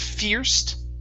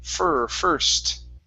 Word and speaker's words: first: Next up is the word first right here instead of fierce. Okay, the IR is an ER sound. First.